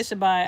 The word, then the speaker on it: Shabbat: Some people say Sabbath, some people say Shabbat. I pronounce it Shabbat.